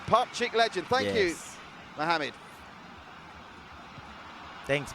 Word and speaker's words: Pakcik: he says he's Tommy pronounce it like this part cheek part cheek yeah out of here see a he's read it down alright Mohammed to you part cheek so it's part cheek pot chick legend thank you Mohammed